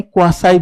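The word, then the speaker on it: quasi: अब देखिए यहां पे अगर हम बात करें क्वासी कॉन्ट्रैक्ट की। क्वासी इसको कहीं-कहीं क्वासाई भी प्रोनाउंस करते हैं। क्या करते हैं? तो क्वासी या क्वासाई कॉन्ट्रैक्ट दोनों सेम ही चीज है।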